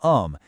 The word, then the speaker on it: homme: The word for man, "homme", is masculine, but it starts with a silent H that acts just like a vowel sound.